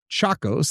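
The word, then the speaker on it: Tchacos: In 2000, the manuscript was purchased for $300,000 by antiquities dealer Freda Chacos. That is spelled T C H A C O S.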